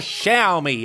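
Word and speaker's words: Xiaomi: to pronounce this but it's actually pronounced or shall me as I'm being told why pronounce the X like an SH because from a company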